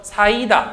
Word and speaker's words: 쌓이다: 사이다, 쌓이다 이렇게 발음해요.